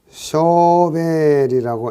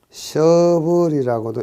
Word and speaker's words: shovel: 굴착과 씻기를 동시에 할 수 있는 토공 기계가 아닌 것은, 자, 굴착과 씻기를 동시에 할 수 있는 장비는 SHOVEL, 쇼벨이라고 읽기도 하고 셔블이라고도 읽기도 합니다. 그래서 BUCKET, 버켓이 달려 있는 거.